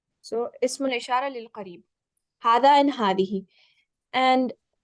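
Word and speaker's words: هذا: Remember, there's no, even though we pronounce it as Zaalika and Haza, there's no alif after the ha or after the da when you write it.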